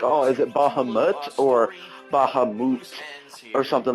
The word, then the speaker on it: Bahamut: Bahamut or Bahimut? Where's the I? Where's the E? Spell in the game.